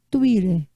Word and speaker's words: Twitter: as notícias Facebook Twitter que a pronúncia é Twitter Twitter essas fake News também